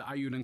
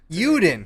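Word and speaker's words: Eiyuden: Ayuden. So I've been saying it wrong.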